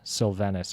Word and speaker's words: Silvenis: joined by a very special guest uh sylvenus am I pronouncing that correctly you are and most people